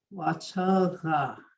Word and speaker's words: wachanga: Wachanga. Put your tongue kind of toward the back. Wachanga.